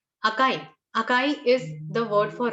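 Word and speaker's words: あかい: this is a so when you combine it and pronounce it together it becomes akai akai akai is the word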